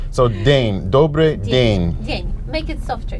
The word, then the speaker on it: Добрый: Добрый вечер. Добрый вечер. You know that funny letter was the little hat on top of Looks it. like a pyramid. Looks like So you literally pronounce it y.